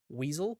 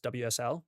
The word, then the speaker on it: WSL: If you're on Windows, you're going to need Weasel. It's not actually pronounced that, it's WSL, but you're going to need Windows subsystem for Linux in order to do the Linux stuff.